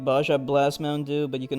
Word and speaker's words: Baja Blast: Blast Baja Blast oh I guess the J is pronounced like a h sound in Spanish or something is that why like when whenever like Hispanic people go ja J Jah it's pronounced ha haa okay I get it